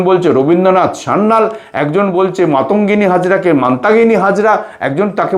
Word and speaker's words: মাতঙ্গিনী: সারনাল নয় আরে শোনেন মানতাহিনী হাজরা নয় মানতাহিনী হাজরা নয় মাতঙ্গিনী হাজরা যদি বলতেই হয় ওদের লেখাগুলো পড়ে নেবেন আপনারা।